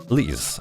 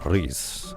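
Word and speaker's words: Riesz: Then on the bottom right we have Liz, or Riz, as you would like to pronounce it, and she is a spear fighter and princess at the same time.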